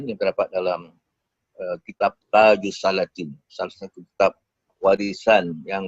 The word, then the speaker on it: Taj al-Salatin: Salat ini menarik juga kerana saya mendengar dalam beberapa seminar ada juga pakar teologi Melayu menyebut sebagai taj al salatin. Wahal kejaannya memang gitu tapi kita paham bahwa sebutannya betul tajus salatin ini artinya juga